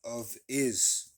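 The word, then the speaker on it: ὄφις: right the serpent okay serpent in Greek is pronounced uh of is okay office let me see if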